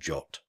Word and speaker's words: JWT: twists but the most common and accessible names are Json web token JWT and jot if you're using one